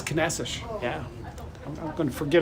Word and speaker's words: Caneças: Maybe by the end of the day, I might actually get rid of my old pronunciation. What was it again? It's Caneças.